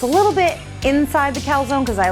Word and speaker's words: calzone: recipe today we're gonna make calzone or in italy they would say calzone and it is similar